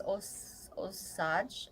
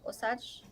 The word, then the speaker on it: Osage: Warren is saying he's Osage. Osage? Is that am I It's pronouncing it right? Osage or Osage.